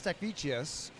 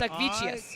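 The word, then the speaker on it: Statkevičius: I should know how to say this name because it's an e-swimmer, but over time, I believe it's Stakvicius. And Stakvicius. I could be off on that. No, that's right.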